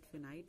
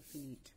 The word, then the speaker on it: finite: यू can pronounce it फिनाइट और फिनीट, वन एंड the same thing.